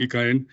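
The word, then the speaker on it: ICAEN: knowa is a it's from the EK in pronouncing in Spanish Catalan EK Catalan Institute of energy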